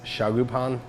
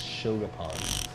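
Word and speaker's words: shokupan: so milk buns, we basically take a Japanese style milk bread, which is also known as shagupan. Definitely butchered that. Let's start over. Mispronounce that. It's shogapan, but I'm gonna mess that up.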